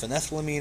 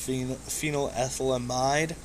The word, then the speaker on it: phenethylamine: that's relevant um then the dea's attorney mispronounced phenethylamine as pH phenol ethylamide um very there's not